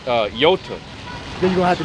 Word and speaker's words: iota: In the Greek, the I is pronounced, well, it looks like an I, but it's pronounced iota. Iota. You pronounce it with the E sound.